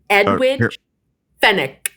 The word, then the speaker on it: Edwige Fenech: But we'll let Stephanie say the proper pronunciation. Of course. Edwige Fenech.